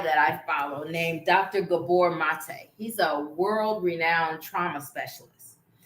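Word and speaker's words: Gabor Maté: Gabor Mate, that's Mate, and it's Gabor. Dr. Gabor Mate.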